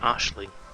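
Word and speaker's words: Aisling: awesome cause action hello asling is pronounced Ashling no who says I've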